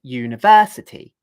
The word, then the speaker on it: university: So if I say, for example, the word university, it's dun da dun da dun. 1, 2, 3, 4, 5. 5 syllables. The accented syllable is 1, 2, 3. It's the third syllable.